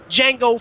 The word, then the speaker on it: Django: The D is not silent, nigga. It is Django for him.